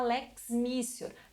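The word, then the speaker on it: lex mitior: A segunda hipótese que nós temos aqui é a lex missior, que eu lembro, né? Estamos falando em expressões em latim, o T ele se pronuncia com o som de C.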